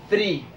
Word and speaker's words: three: Debemos tener cuidado al pronunciar el número tres, porque si decimos three, estamos diciendo algo en inglés. Tenemos que tener cuidado al pronunciarlo. Se dice three, como si fuera pronunciar una Z.